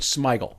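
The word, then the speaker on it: Smigel: Robert Smeiggel is actually how you say it.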